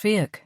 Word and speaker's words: Fiach: It's pronounced Fiach, but spelled F-I-A-C-H. But you know the way those Irish spellings are.